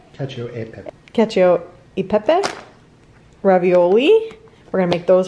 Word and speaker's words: cacio e pepe: and fresh how do you say that babe cacio de pepe pepe cacio e pepe ravioli we're gonna make those for dinner tonight